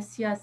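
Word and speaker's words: CIASE: Et je renvoie vraiment les internautes sur le site de la SIAZ. Ça s'écrit C-I-A-S-E, la SIAZ.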